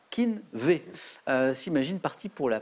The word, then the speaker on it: Keen'V: encore plus rapide et ça se prononce exactement comme ça Keen'V si imagine parti pour